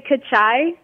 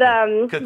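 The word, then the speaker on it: cachai: Well, you pronounced it right the first time. You say kachai. Okay. And kachai.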